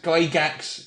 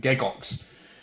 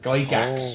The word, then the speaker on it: Gygax: pronunciations of Gary Gygax Gygax is how my family pronounces my name although in the proper Swiss it was originally pronounced giggles but Gygax is how my name is pronounced oh I Yoon is